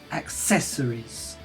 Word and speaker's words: accessories: is significant in that you pronounce stress the second syllable the syllable after the apostrophe accessories uh noun things that